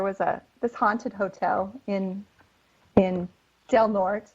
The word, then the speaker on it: Del Norte: this haunted hotel in Del Norte. In Colorado, we say Del Norte. We don't say it correctly.